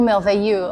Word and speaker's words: Merveilleux: Can you help me pronounce this correctly? The name? Au Merveilleux de Fred. Oh, Merveilleux.